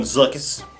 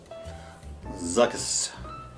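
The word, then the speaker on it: Zuckuss: out there will say i'm mispronouncing the name i call him zuckus call him zuckus that's a zu a ck followed by you and a double s zuckus zuckus is a bounty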